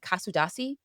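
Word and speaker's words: Kuşadası: And then in Turkey, we went to this place called Kasudasi, Turkey I believe is pronounced.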